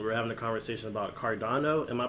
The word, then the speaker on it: Cardano: on the phone we're having a conversation about cardano am i pronouncing that cryptocurrency correct yes yes uh big